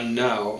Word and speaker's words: nou: Qua now, I think it's why is he so bold and broad to dare to enter in? Qua, no, now. Now is spelled N-O-U.